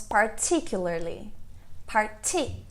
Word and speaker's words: particularly: A ênfase é na primeira sílaba. Fortunately. E essa? Essa nós falamos particularly.